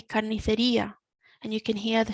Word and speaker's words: carnicería: So another thing that we need to mention is the accent on the I. As we've said in previous lessons, the accent is telling us where we need to put our focus, our strength. So we say carnicería, and you can hear